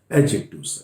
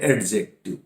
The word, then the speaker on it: adjective: भी जोड़ देते हैं एडजेक्टिव। पर ध्यान दीजिए ये प्रोनाउंसिएशन का एक रूल है कि जब कभी भी ए और इस जे के बीच में डी आए तो ये डी साइलेंट रहता है, इसलिए यह एडजेक्टिव